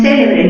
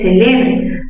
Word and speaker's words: celebre: No es célebre ni celebré, es celebre. Mayor fuerza en qué sílaba? Mayor fuerza en la sílaba le.